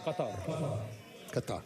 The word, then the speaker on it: Qatar: That's the proper pronunciation. One more time, Anthony. One more time. Qatar. Oh, It's tough, though. That rolling R is tough.